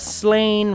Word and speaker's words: Slain: We've got Slain, rhymes with plain, Hannah, and Graham, rhymes with Pam.